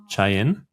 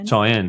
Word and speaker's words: Cheyenne: And I reckon the people out there now, I don't know how to pronounce it correctly. Is it Chen? Is that where you the world champs? Cheyenne.